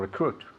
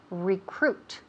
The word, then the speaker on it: recruit: To recruit. Good, very good. Repeat again. To recruit. Perfect. Wonderful pronunciation here. To recruit. Recruit. Okay, first we have the syllable, the emphasis on the second syllable, right?